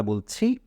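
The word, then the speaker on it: ب: পড়ুন খুব সহজে একবার বলুন বা খুব কষ্ট করার দরকার নেই দুই ঠোঁট দুই ঠোঁটের সাথে মিলিয়ে শুধু উচ্চারণ করুন বা এরপরে আমরা দেখি এই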